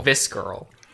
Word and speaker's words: visceral: Visceral. You don't pronounce the C.